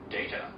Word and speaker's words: data: So it's data data data and the first part is stressed in this way of pronouncing it data data data.